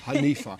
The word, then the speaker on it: Hanifa: Hanifa. Yeah. Hanifa, yes, you Hanifa.